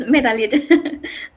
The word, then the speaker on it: Medalit: Am I pronouncing that right, Medalit? Yes, it's Medalit.